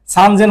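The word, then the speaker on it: さんぜん: ব্যতিক্রম যেমন আমরা বলে হাজারে যখন ব্যতিক্রম পাইছি, কোনটা 3000-এ পাইছি ব্যতিক্রম, এটা সান যে সেন না হয়ে সানজেন বলছিলাম, মনে আছে?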